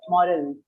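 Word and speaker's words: morale: फिर दूसरा होता है मोराल, जिसकी स्पेलिंग अलग है, एंड में एक ई लगती है यहाँ पे. मोराल.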